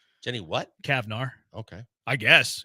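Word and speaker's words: Cavnar: Okay, I guess it's pretty it's spelled C A V N A R seems like a Cavar to me, right? Yeah, sure. Jenny Kavnar. That sounds like you said it right.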